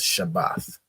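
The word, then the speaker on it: שבת: So it's pronounced Shabbath, right?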